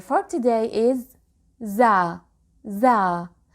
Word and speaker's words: ز: Za. Some people call it zai, which is also correct, but I'll go with za.